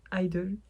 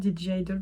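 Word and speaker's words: (G)I-DLE: Queen card de jaildle idle j'ai toujours DJ idle parce qu'il y a un G en fait entre parenthèses mais je suppose que s'il est entre parenthèse et qui ne se prononce pas et moi je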